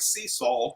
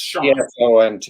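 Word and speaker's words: Csont: his last name because it looks like sea salt or Cissant, but it's pronounced Shaunt. C-S-O-N-T.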